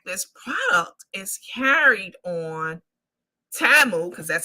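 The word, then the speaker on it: Temu: and in fact this product is carried on TAMU because that's how you pronounce it we found that out during the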